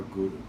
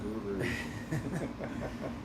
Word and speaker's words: Guru: And now, be very careful when you're pronouncing it, that it's not Guru. It's not like my spiritual guru, my fitness guru. My gardening guru. It's Guru, Guru, Guru. Guru. You want to hit the roof of the mouth with the tongue.